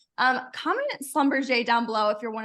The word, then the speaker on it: Schlumberger: to be one of the seven people that pronounce it wrong um comment Slumber J down below if you're one of the seven